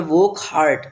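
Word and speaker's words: Wockhardt: इसको एक private company जिसका नाम है वोक हार्ट। डब्ल्यू ए सी के एच वोक आल्ट ए आर डी टी आर्ट ठीक है डी इसमें साइलेंट रहेगा तो इस कंपनी ने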